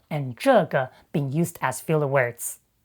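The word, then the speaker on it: 这个: of 那个 and 这个 instead of 这个. That's simply a common northern pronunciation in China you often hear in everyday conversation.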